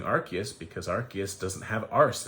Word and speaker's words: Arceus: My wife and my daughter have been playing Pokemon Arceus, which is how it's pronounced in Japanese, and I like that because you get to say Arce every time you say it.